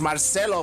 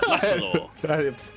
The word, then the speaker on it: Marcelo: Oh yeah, he was talking about how like you pronounce it as like a H instead of an R. Yeah. Marcelo. God. Marcelo.